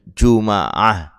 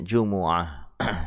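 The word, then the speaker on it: جمعة: Ada yang dengan Jumu'ah didomahkan. Ya. Apanya? Jim dan mimnya. Ada yang didomahkan jim dan mimnya. Ada yang difathahkan mimnya setelah didomahkan jimnya, Juma'ah. Ya. Ada juga yang membacanya dengan Jum'ah, disukun mimnya. Nah, ini semuanya benar. Tapi yang lebih masyhur, yang lebih terkenal ya yang didomahkan semuanya, jim dan mimnya, Jumu'ah.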